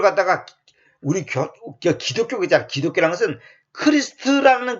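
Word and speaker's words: Christ: 크리스트. 뭐다 영어에서 크라이스트. 근데 크라이스트라는 말은 그거 영어식으로 왜곡된 발음이고 크리스트.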